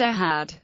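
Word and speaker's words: אחד: th in this thus the word one in Shima Israel is always pronounced aad the phon giml giml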